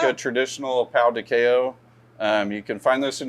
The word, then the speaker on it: pão de queijo: Pão de queijo. Pão de queijo.